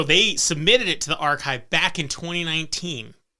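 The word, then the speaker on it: arXiv: actually submitted this paper to archive which is spelt a-r-x-i-v back in 2019.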